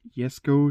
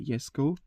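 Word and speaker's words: Jesko: 2020 Kunix Egg Sh Yesco, Chesco. I don't know how you pronounce it. I'm going to say Yesco because some people in the internet say you should the J pronounced like a Y.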